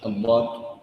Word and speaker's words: ضاد: مخرج الضاد الضاد الضاد والان هناك من يقول ايضا نقول ا اد ا هذا نطق ماذا نطق ماذا نطق دال اذا اراد ان ينطق ضاد فلا يقول اب ويلصق راس لسانه فقط يلصق هذا المكان وانما عليه ان يلصق اللسان باكملها هذا يلصق هذا كله يلصقه بهذا المكان فيقول اض ضا ضا ضي ضي ضو ضو الان